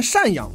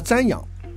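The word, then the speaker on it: 赡养: 读错字，把老人赡养读成了瞻仰，老人瞻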